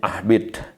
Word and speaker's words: ahbit: Ahbit di sini habato ya katanya, tapi bacanya ahbit.